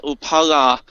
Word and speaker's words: Upala: Upala, and that's me trying to get the glottal stop in there, which is a really awkward thing for English speakers to pronounce, is clearly a dependent of some kind of Assyria.